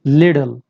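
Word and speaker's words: little: लिडल, तो इसको बोलेंगे लिडल। अमेरिकन इसको बोलते हैं। हम यहाँ पर अमेरिकन एक्सेंट एंड प्रोनाउंसिएशन सीख रहे हैं।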